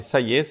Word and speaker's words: Sayes: Sayes se escreve S-A-Y-E-S.